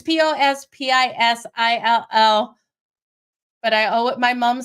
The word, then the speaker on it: Pospisil: Otherwise, Popsicle is, I'm not saying it right. It's not Popsicle. It's Pospisil.